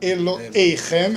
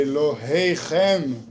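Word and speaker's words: אלוהיכם: Não é Eloheichem, é Eloheichem. Certo? É difícil. Não se cobrem demais. É um H aspirado.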